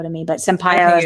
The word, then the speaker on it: Sampaio: Valentino Sampaio, I believe is how you say her last name, Sampaio. It looks like Sampaio to me, but Sampaio is how people are pronouncing it.